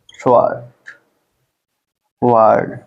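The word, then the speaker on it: sword: ठीक और क्या होता है एस डब्लू ओ आरडी ठीक है क्या पढ़ते हैं स् ड स्ड मीस क्या होता है तलवार ठीक यहां भी हम क्या पढ़ रहे हैं डब्लू हमारा क्या है साइलेंट है ठीक है इस तरीके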